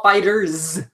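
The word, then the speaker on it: FighterZ: On there, and then once again, Dragon Ball Fighter Z Furs, Dragon Ball Fighters. There you go. That's how you pronounce that.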